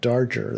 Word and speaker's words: Darger: sounding my head suddenly like darjer that guy that's a strange guy who who was uh like a janitor most of his life how do you spell it uh darger yeah d-a-r-g-e-o okay just like the sound and I think I've